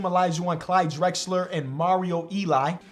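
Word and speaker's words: Elie: I've always said Eli. Nobody's ever corrected me, so I'm always just gonna say that. But now just looking at the way it's spelled makes me feel like I'm wrong.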